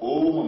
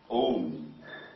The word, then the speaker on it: Om: here the chanting of om manra om it has a three syllables a o and m a o and m